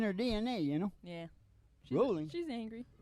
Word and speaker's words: Rowling: Rolling? She's angry. It's Well- pronounced rolling.